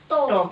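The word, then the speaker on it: talk: टॉक L silent टॉक माने बात करने में हेल्प करती है मसल्स, फेशियल मसल्स, फेस की मसलों में।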